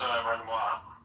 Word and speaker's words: Renoir: It's pronounced Renoir.